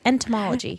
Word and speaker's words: entomology: Molalla G ed null but how do you pronounce that one study of insects entomology homology Thank You Travis entomology it so so she from friends she would